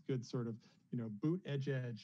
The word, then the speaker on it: Buttigieg: sort of, you know, boot edge is a good way to pronounce it if you're ever kind of stuck on that name.